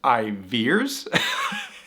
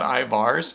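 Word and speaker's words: Ivar's: I guess it's pronounced Iveers. The fish place we had in the last video, not Ivars.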